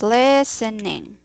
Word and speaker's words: listening: Okay, you just listening. okay. That's it. That's the correct. It's actually the T in here is silent.